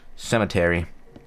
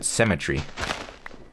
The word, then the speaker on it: cemetery: gets bigger this graveyard Cemetery I've heard some people's uh pronounce it cemetry why and you know what I say Elementary too but like it doesn't make sense cuz it's it's not r y at the end is it no it's e l